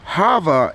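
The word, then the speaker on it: חַוָּה: harvard mother life well hava is literally the hebrew way you say eve it is literally means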